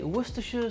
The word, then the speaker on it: Worcestershire: That's how you say it, by the way, Worcestershire sauce.